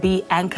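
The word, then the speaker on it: Bianca: work on my craft your name is bianka but pronounced B Anka as the anchor yeah um can you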